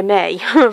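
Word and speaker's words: Mae: the spelling M AE although we pronounce it may the in Welsh there's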